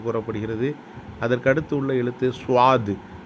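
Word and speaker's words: ص: அதற்கு அடுத்து உள்ள எழுத்து சுவாது. சுவாது என்பதிலே தமிழிலே சொல்லப்போனால் சுவா இத் சுவாது என்று நாம் சற்று ஏறக்குறைய உச்சரிக்கலாம்.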